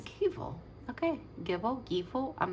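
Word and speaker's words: Gebo: The Givo is next to it. Okay. See, I'm saying it wrong because here it says Gavo is how you pronounce it.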